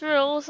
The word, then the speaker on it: Rouxls: Rouxls, pronounced Rouxls, are simple.